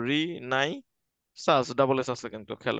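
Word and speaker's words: Renaissance: তো রিনেসাস, ঠিক আছে, উচ্চারণ করবে এভাবে, রি নাই সাস, ডাবল এস আছে কিন্তু, খেয়াল রাখতে হবে।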